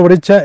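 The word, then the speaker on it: Breccia: Alberto Brecha es uno de los autores plásticos más extraordinarios del siglo pasado.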